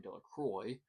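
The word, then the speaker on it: Delacroix: Bobby and Harry Jones and Dicky Delroy, the villagers pronounced his name Del Croy, eventually made a great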